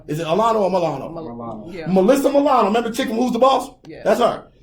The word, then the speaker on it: Milano: Milano.